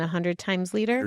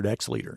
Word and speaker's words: 100X Leader: But I do want to say, you know, Sean actually sent me three books, The Five Gears, Five Voices, and 100 Times Leader. 100X Leader.